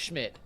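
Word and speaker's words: Szmyt: The question was, will Brown's new kicker Andre Schmidt, and I can't believe that last name is pronounced Schmidt, be the Browns leading scoreer versus the Bengals?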